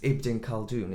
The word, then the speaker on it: Ibn Khaldun: But you actually selected, and now pronunciation's Ibn Khaldun, isn't it?